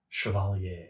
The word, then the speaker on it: Chevalier: How do you say it? Chevalier. Chevalier. It's like a Chevy.